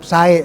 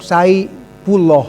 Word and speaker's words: Saepulloh: Tuh, seperti Asep Sae, salah sebenarnya. Asep Sai Puloh harus nama.